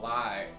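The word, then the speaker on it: Lye: name like Sauron so I came up with General lie but it's spelled l-y-e foreign no sir I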